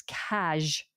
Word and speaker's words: cazh: It's cash, spelt C-A-Z-H.